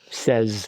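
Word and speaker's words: seize: How is that pronounced? Says says okay.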